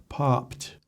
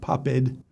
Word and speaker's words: popped: controversy implicit bias stereotype popped popped not pappad popped authors properly generalizations by